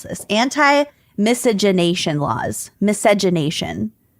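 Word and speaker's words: miscegenation: Yeah, the emphasis is on nay. So, yeah, misogynation.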